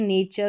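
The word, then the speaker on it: nature: टी यू आर ई चर हो गया। यह नेचर हो गया।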